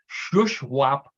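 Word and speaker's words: Shuswap: from British Columbia this is uh comes from shushwap Lake uh in the Southern Southern side of British Columbia is the way it's pronounced which is basically the same thing that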